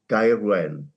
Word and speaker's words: Gaerwen: As a South Walian, I would call it Gaerwen.